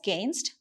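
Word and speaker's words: 'gainst: This is against, so we pronounce it as gainst.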